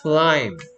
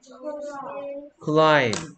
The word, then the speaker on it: climb: 이러면 crime, 이러면 climb. L은 L답게 느낌이 나야 될거 아니에요. climb. 오케이, B는 무슨 소리 내고 있어요? 오케이, 그럼 climb 입니까? B가 소리가 안 나고 있습니다. 그래서 얘 발음이 climb.